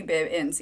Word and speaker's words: Bibbins: My last name is pronounced Bib, like Baby Bibbins.